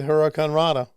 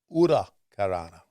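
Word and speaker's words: huracanrana: That Hurricane Rana, or as Yeah, as Conan told me, no, it's pronounced Ura Karana.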